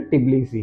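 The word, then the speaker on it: Tbilisi: करें जॉर्जिया का कैपिटल टिब्लीसी है जिसमें टी साइलेंट है जैसे बिली सी बोला जाता है यहां की सारी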